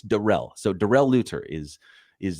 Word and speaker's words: Darrell: see that but I do see the production pronunciation on his name it's not Daryl it's Darrell so Darrell luter is is the the proper